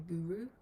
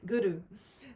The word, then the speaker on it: guru: west to teacher guru the way we pronounce it is a little bit different and we try and roll the r slightly so guru rather than guru i don't know guru so roll in the r as if you're um